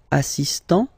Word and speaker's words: assistant: Il est assistant. So don't pronounce the final T here, but for the feminine form, elle est assistante.